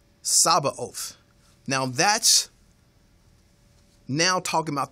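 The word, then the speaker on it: Sabaoth: that word that talks about the villain one it's spelled sa a b a t o h sabba oath now that's now talking about the personality of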